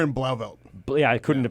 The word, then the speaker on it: Blauvelt: I can't We're pronounce. in Blauvelt.